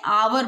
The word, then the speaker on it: hour: आवर बोलोगे। इसको हावर नहीं बोलते, एच साइलेंट रहता है, इसको क्या बोलेंगे हम?